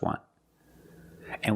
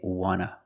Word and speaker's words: want to: So we don't pronounce the T and we say wanna, wanna. I just want to eat. Want to or want to, you can pronounce it wanta or wanna. Both pronunciations are correct.